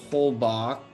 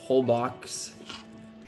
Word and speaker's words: Holbox: Yeah, just kind of warm up for a second, but I took a trip to a beautiful island called Holbox, but it's spelled Holbox.